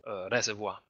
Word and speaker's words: reservoir: Impianto di standby che non ha, cioè ha un suo reservoir, quindi ha un suo reservoir, è la pronuncia corretta di questa parola.